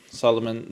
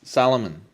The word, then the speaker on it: Salomon: were looking at Solomon's Solomon it's not Solomon it's Salomon Solomon right okay sounds